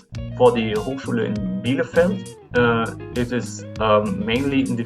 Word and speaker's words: Bielefeld: So right now we do that with Niederrhein, Hochschule Niederrhein, and the second one is Hochschule, that is the German pronunciation, Bielefeld, and that are 2 of the largest public universities of applied sciences in our state.